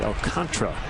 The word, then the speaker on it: Alcantara: It's got an extra A in there, but that is exactly how it's pronounced.